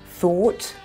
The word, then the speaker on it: thought: Thought, bought. That O-U-G-H is an OR sound, like in the word saw.